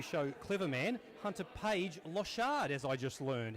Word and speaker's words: Lochard: a name local shot it's actually a French French pronunciation from my Haitian family my mother's side my grandmother's side they're all from Haiti so the Creole French yeah it's hunter page lost shad so with all that